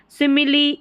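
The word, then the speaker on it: simile: सिमिली, ई का उच्चारण हो रहा है।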